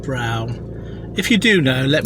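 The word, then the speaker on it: Brough: say I keep saying Brow. It's B R O U G H. It could be pronounced Bruff I suppose as in Lothbr.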